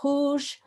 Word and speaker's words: rouge: And same for rouge, find the R, bring in the R, bring in the OU, and then I need a G. And then I would, oh, let's have a blue one. And it's different color. And then I'd need a silent E, which was in here.